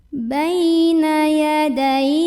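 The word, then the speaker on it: بين يدي: Bay ada huruf lin karena ada ya sukun sebelumnya fathah, maka bacanya cukup dilembutkan. Baina yadai.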